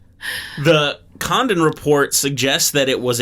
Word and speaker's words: Condon: was filed by the condon committee condone committee i don't know how to pronounce that is it like condom both n yeah and it's named after